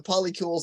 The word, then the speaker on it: polycule: Polycule? Polycule? Just like molecule. Like a molecule.